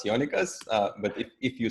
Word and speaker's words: Jonikas: a warm welcome to Jana cos Johnny cos did I say that right no but that's okay no my name is not very international but well I'm the novice Jana cuz but if you spell